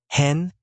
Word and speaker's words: Hen: Hen pronounced similarly to hate but with a flatter tone, Lisa said clearly. Hen, Euron repeated, savoring the short, forceful syllable on his tongue.